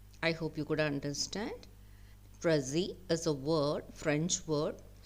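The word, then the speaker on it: précis: hope you could understand przi is a word French word so it is pronounced without pronouncing the last consonant letter s so the pronunciation I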